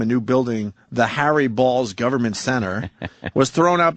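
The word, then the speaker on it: Baals: new building citizen Square the real Harry balls who indeed pronounced his name balls course right here was Fort Wayne's mayor from 1934 through 47 and again through 51 uh to 54 his descendants changed the pronun ation to bals BS City officials initially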